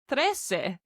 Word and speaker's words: trece: Pretty similar is 13, which is trece. T-R-E-C-E. Trece. You can hear in the word trece a tres, the number 3, hidden there.